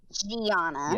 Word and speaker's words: Gianna: Hers is spelled Gianna. Gianna. Yeah. That's the name of the Oh, it's Gianna.